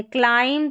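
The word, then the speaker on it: climb: MB जब रहता है ना, स्पेलिंग के आखिर में देखिए MB आ रहा है ना, तो B साइलेंट है। क्लाइम, थम, कॉम, लैम और बॉम, तो थम, ठीक है, B का उच्चारण नहीं हो रहा है।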